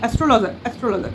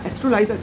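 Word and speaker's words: astrologer: অ্যাস্ট্রোলজার, তাই না? বাবা, অ্যাস্ট্রোলাইজার না, থাক, ভুল কথা বলার দরকারই নেই।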